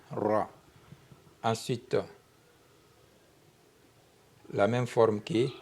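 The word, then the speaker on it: راء: Ensuite la lettre R en arabe s'écrit comme ça comme l'arc. OK ? Et on lit ça ro. Dal, dal ra.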